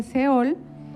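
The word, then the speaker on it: שאול: y es lo mismo en hebreo se pronuncia ceoe y en griego se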